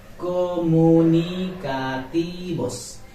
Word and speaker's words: comunicativos: Comunicativos, comunicativos, comunicativos, not vos, because this letter name is ube and it will be pronounced like ba, ba, not bha.